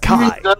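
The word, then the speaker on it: χ: It's a plot point in Birth by Sleep, where it's basically the little Greek X is Keyblade, or it's actually pronounced Kai.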